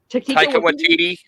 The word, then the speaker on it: Taika Waititi: Taika Waititi. Yeah. Okay, I pronounced it right then.